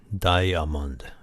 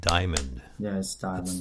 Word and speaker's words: diamond: in Japanese okay and I thought he's like diamund but it's actually diamond two syllables yeah you when you